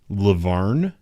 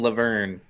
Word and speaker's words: La Vergne: post about today uh one said the g is silent so it's Laverne okay um the other one